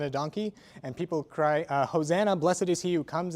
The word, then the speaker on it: Hosanna: donkey and people cry, Hosanna, blessed is he who comes in the name of the Lord, they say, Hosanna, not Hosiana, which is what it's written as in the Psalms.